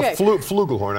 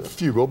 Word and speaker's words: flugelhorn: Well, no, it's a flugelhorn, actually. And what did I say? Well, you said fugel, but it's fine.